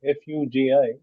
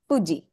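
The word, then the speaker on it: ふ: But the actual pronunciation, the way the Japanese pronounce it, is somewhere between fu and hu. So it sounds more like fu.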